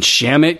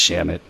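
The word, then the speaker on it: Shamet: I mean, Shamit can move. Is it pronounced Shamit or is it? I think it's Shamit.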